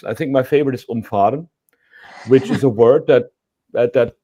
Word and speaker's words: umfahren: So when you have like umfahren, means when the A is a bit longer, it means you avoid somebody. Umfahren, and when you do it the A short, then you run that person over.